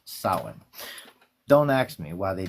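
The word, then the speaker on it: Samhain: You know, it's not Sam Hayne. It's not a first nor a last name. It's one word and it's pronounced sin.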